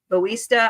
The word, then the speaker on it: Bautista: Friday about the new Mila Jovovich and Dave Bautista, I believe is how you say his last name.